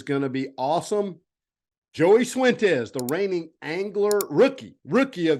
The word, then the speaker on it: Cifuentes: So the way I do it is if you say the letter C or yes in Spanish, C, but my name starts with